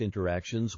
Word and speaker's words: interactions: miss out on real-life interactions with my friends and family. This word real-life interactions. Notice the pronunciation here. Interactions. The T has been completely cut out.